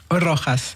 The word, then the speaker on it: Rojas: Rojas, effectivement. Merci. Il faut beaucoup que ça roule sur le R et aussi sur le J.